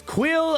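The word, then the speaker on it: Kuiil: the I have spoken dude his name is quill Orca we like camera for the pronunciations k UI ll and he's obviously a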